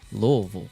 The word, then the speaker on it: Louisville: How do you pronounce it, man? Louisville. See? Louisville.